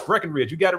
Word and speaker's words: Breckenridge: For some reason they think there's supposed to be a B in the middle of it. But uh no, it's Breckenridge.